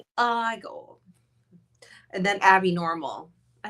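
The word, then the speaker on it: Igor: It's pronounced I go. I go and then Abby Normal.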